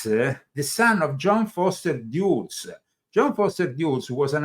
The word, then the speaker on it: Dulles: Dulles, you're right. The pronunciation is Dulles. I didn't want to say anything. No, but you're right. It's like the airport in Washington.